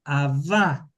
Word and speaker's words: abá: Pablo está hablando teológicamente de un abá con acento en la A. No es aba con acento en la primera. Es a con acento en la segunda a.